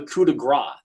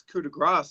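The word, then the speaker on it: coup de grâce: I believe it should be called the coup de grace. My understanding is that S. Yeah, but everyone, like, I know you're saying because the announcers say Gross, but that S is silent.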